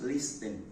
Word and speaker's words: listen: well we're starting with this and subsequently we'll get um now this word is usually pronounced listen it is not listing this T is silent so it is supposed